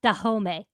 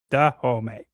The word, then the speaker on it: Dahomey: And apparently that kingdom is pronounced Dahomey. Dahomey.